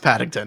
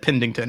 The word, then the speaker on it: Paddington: now, he mispronounced Paddington and he said Pendington.